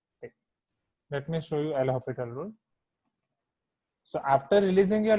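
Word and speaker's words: L'Hôpital: So this is your L'Hopital rule, right? This is your L'Hopital rule. In spelling, we are writing hospital, but S is silent over here.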